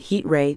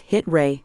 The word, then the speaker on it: Heet: rushed from my face it's actually pronounced hit Ray the man corrected oh sorry about that